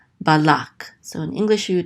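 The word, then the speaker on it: בלק: This is ba, and then the lamed with the kamatz, so this says la, and this kuf closes out this syllable, so it says lak, balak.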